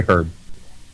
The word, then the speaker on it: herb: and herb herb well there's an h in that one i agree with that i will agree with that one yes because there is an h in it we should say herb i don't know i